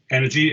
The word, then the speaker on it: n3rgy: It's pronounced energy, N3RGY.